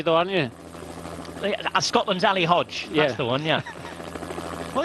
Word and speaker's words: Hodeg: family's time in Colombia but pronounced Hodge and Alber hod the